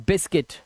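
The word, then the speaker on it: biscuit: और इसे पढ़ते हैं बिस्किट। क्या पढ़ते हैं? बिस्किट।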